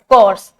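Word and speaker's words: Corps: तो this is national cadet कोर्स। ठीक है? तो इसको बोलते हैं कोर। सी ओ आर पी एस। इसका प्रोनाउंसिएशन होता है कोर।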